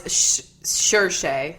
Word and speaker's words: Saoirse: Oh, it's Saoirse or Saoirse.